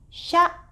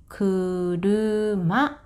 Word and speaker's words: 車: This is pronounced as sha. For kunyomi, you can pronounce as kuruma.